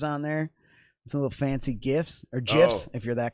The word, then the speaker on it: GIF: So I could take GIFs or GIF. whatever you call it, dude. It's a GIF. It's a hard G, man.